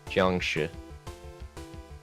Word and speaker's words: Jiangshi: Jiangshi.